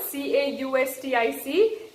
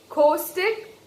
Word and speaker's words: caustic: So there are two correct ways of pronouncing this word, C-A-U-S-T-I-C. Either you pronounce it as the way Britishers pronounce it, caustic, caustic, or you pronounce it